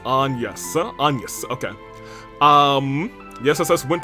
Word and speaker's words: Agnes: The name, Agnes, is the French pronunciation, which is Agnes.